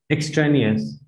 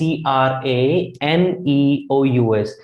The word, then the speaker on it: extraneous: to our third word so number three it's extraneous now how to pronounce it is x tray extraneous right t r e it's not spelling s theory over here it's e x e-x-t-r-a-n-e-o-u-s which sounds like extraneous extraneous right now what